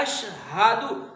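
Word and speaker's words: أشهد: درست ہو جائے گا۔ آپ نے اس طرح پڑھنا ہے اشہد، ہا اس میں ظاہر کرنا ہے، اشہد ان لا الہ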